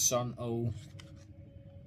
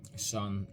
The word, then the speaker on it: Sunn O))): It says Sunn O. But you have to say, sorry for my cold, by the way. Sunn, because it's named after, you know, the guitar amp brand Sunn. You know, that's why it's like spelled like this as well.